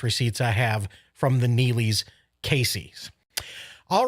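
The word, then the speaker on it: Neligh: mckinney is in neely nebraska yep that is pronounced neely nebraska where everybody is hanging out i hear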